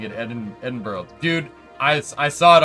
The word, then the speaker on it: Edinburgh: around Pittsburgh yep now that's how you say it it's it's Edinburgh Discovery Edinburgh gotta say it with the back of your the back of your throat me Edinburgh yeah I